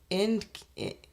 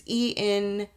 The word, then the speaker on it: Encke: Whipple proposed that the exploding object was possibly the comet Encke. I don't know how to pronounce this. It's Encke, which is a comet that